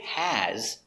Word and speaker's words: has: of has to now the word has the s is pronounced like a z like in zebra she has a new